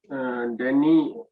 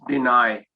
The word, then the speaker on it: deny: You said, Denny, the correct pronunciation is deny.